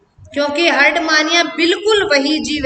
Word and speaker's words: Herdmania: अब हम जो पढ़ेंगे वो हम पढ़ने जा रहे हैं कोर डेटा का प्रथम जीव जिसका नाम है हर्डमानिया।